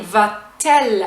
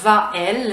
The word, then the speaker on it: va-t-elle: It's really just for pronunciation, It's called a euphonic "t", in French, we can not really do "Va-elle" it doesn't sound good.